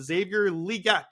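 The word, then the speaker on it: Xavier Legette: Johnson a real route Runner they draft drafted Xavier liette is how I'm hearing that we're pronouncing this name now they drafted Jonathan Brooks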